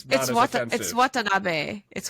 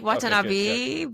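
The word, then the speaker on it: Watanabe: Because if it's right if it's Watabi or his clan it's Watanab it's Watanabast you're my pronunciation yeah you're saying Watanabi but it's Watanab I am not good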